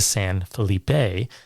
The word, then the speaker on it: San Felipe: Well, you would pronounce all the letters, so it'd be San Felipe. Okay. I'm learning something every day. Anyway, they're supposedly going to San Felipe to fish.